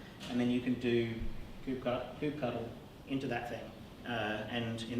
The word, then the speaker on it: kubectl: In my mind, I read it as kubectl. And there is, I believe there is some actual mention in the Kubernetes version updates about an appropriate pronunciation, but you can call it whatever you like.